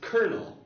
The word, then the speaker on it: colonel: So we have the spelling colonel, colonel, which is pronounced colonel.